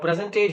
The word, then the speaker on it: present: n t present now when you when you give strong emphasis on the first syllable here you know present it becomes a noun but when you you speak it with the emphasis on the second syllable you know it becomes a verb he gave me a